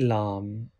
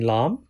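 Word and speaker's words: لام: this is first molar for pronouncing LOM touch the collar of tongue with the base organs of 3 front teeth and first molar which is along them from here you can pronounce la you can pronounce either way right hand side or left hand side up to you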